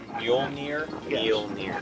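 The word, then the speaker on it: Mjölnir: uh Thor's hammer M you just say mu near mu so like mule like like donkey mule and near like not far yes see it's funny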